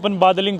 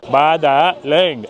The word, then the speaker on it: Badaling: If you read it in English, we'll pronounce it Badaling but in Chinese we say Badaling.